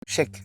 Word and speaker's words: cheikh: comme Cheikh, c'est le cheikh. Voilà, on le prononce cheikh, mais c'est le cheikh. Donc c'est le chef en gros. pas le chèque bancaire.